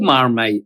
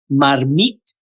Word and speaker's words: marmite: The name comes from a French casserole dish called Marmite or actually pronounced Marmmit in the Normandy port of Diet, a popular fish stew is known as Marmmit Deua.